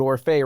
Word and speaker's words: Orphé: right let's name it start the day with orfe right that's that's mine it Rhymes it does rhyme but like when I